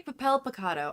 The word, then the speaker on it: Papel Picado: if you guys don't know what we're talking about, so Alexis crocheted some Papel Picado. I always say it wrong. It's okay, Papel Picado. I had to look it up like 800 times.